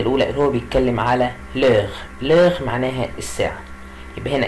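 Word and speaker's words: l'heure: اللي هو بيتكلم على لغ. لغ معناها الساعة، يبقى هنا كلمة لغ يعني الساعة، هنا الاش ما بنطقهاش بقول لغ، يبقى لغ يعني ايه الساعة.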